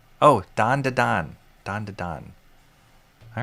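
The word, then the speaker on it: Dandadan: Dan Dan Dandan. How do you pronounce it? Dan Dan Dan. Do I dare? It's a long a so more like dandon. Oh, dandon.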